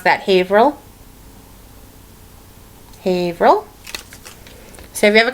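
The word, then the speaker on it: Haverhill: all right here's another one all right we pronounce that havil havil so if you ever come up to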